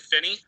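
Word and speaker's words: Phinney: my name is my name is finney okay let's hear your concerns and we'll ask the application yeah last name is spelled p h i n n e y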